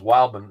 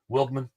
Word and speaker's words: Wildman: You know, my last name is Wildman. You know how many people call me Wilman? It drives me insane. I'm like, really? It's really easy to say. It's the exactly how you say it.